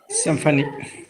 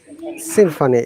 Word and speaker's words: symphony: example this one symphony symphony in both of the cases y sounds like i seem funny okay symphony this one